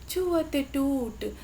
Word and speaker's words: छुअत टूट: देखिए टूट पे कैसे बल पड़ रहा है उच्चारण में, छुअत टूट यानी छूने से टूट गया।